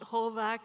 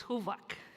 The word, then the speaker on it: Huvak: It's not Hovak, it's Huvak.